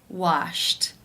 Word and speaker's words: washed: In the infinitive, the final sound of the verb is p, which is unvoiced. Therefore, it is case 1, and the ed is pronounced as a t.